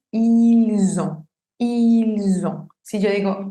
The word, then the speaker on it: ils ont: La liaison se hace cuando la segunda palabra empieza con vocal o con H muda. Entonces aquí empieza con O, con vocal. Por eso tendría que decir ils ont.